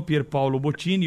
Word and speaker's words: Pierpaolo Bottini: mottini os aloés permite corrigir agora falando que é pior paulo viu porque ele não gosta que a gente chame os italianos com essa pronúncia que todos chamam então para a felicidade